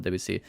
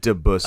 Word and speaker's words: Debussy: I believe it's pronounced Debussy. Oh my fucking god! Give me some Debussy. Two-Set Violin says Debussy. It's a French name.